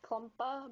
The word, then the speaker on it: Klumpa: That's pronounced Klumpa, but if you want to add emphasis on it, it's more like Klumpa!